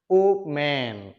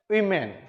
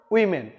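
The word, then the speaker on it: women: এবার আসো একেবারে সর্বশেষ 6 নম্বর যেই ওয়ার্ডটি আমরা সবসময় ব্যবহার করি সেটা হচ্ছে ও ম্যান।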